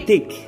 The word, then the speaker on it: thick: I am thick. Nah, saya tebal and green. Nah, pengucapan thick itu karena ada H di tengahnya, biasanya ada apa bahasanya? Kalau kita mau bicara itu ada yang ngeluarin, ada tekanan.